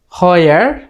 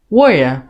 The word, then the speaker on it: where: হয়ার, নো, ওয়ার। British অ্যাকসেন্টে শেষে যদি কোনো একটা শব্দের বা সেন্টেন্সের শেষে যদি রা সাউন্ড থাকে অথবা আর থাকে, তখন সেটা উচ্চারণ হয় না। সেজন্য এটাকে আমরা বলবো ওয়ার, ওয়ার, ওয়ার।